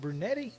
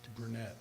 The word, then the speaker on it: Brunette: new head coach Andrew is it brunetti or just brunette brunette okay just want to make